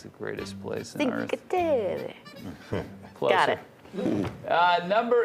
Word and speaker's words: Cinque Terre: So how is it pronounced? Cinque Terre.